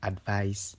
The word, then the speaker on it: advice: The ise ending of advice is pronounced like ice, while the ise ending of advise is pronounced like the eyes in realize.